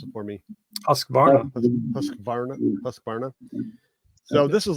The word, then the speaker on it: Husqvarna: Someone else pronounce it for me. Husqvarna.